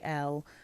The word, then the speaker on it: Elle: And when I say Elle, literally the letter L, that's how you know it's one of the eau de toilettes.